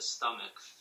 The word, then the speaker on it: stomach: Just when you read, so the second sentence, you would pronounce it stomach. Stomach.